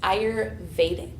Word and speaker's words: Ayurvedic: I said Ayurvedic. Is it Ayurvedic? Okay, very close. Ayurvedic.